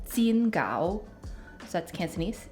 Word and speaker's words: 煎饺: And sometimes pan-fried dumplings are called 煎饺. So that's Cantonese, 煎饺, which means pan-fried dumpling. In Mandarin, it's 煎饺, 煎饺.